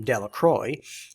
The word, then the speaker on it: Delacroix: Bobby and Harry Jones and Dickie Delacroix, the villagers pronounced this name Delacroix, eventually made a great